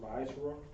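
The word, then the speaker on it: מעשר: Tithes, which is a commandment, comes out of Numbers 18, verse 21, Malachi 3, verse 8 and 10, means 10th in the Hebrew, pronounced ma'asra.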